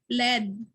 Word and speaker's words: lead: Again, walay magtawag ani og lead ha, kay lead na siya kung sa English na siya mag-lead ta og prayer. Pero kung element na siya, we pronounce that as lead.